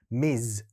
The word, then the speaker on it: Ms: 요 둘은 발음 차이가 좀 납니다. 여기에는 약간 Z 사운드를 말씀해 주시면 되고요. 이건 완벽하게 S 사운드를 말씀해 주시면 돼요. Ms, Miss.